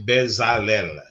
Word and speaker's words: Bezalel: I would say Bezalel.